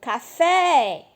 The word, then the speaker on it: café: Então, por exemplo, café. O fé é a última sílaba, não é? Então, a sílaba tônica é o fé.